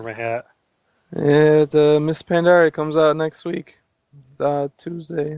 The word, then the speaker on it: Pandaria: He says it's like bacteria. Pandaria. It's pronounced the same way. People were wondering if it's pronounced Pandaria. Like no, that was the question, Seth. Pandaria or Pandaria? Like bacteria, Pandaria. Or we've exhausted this though.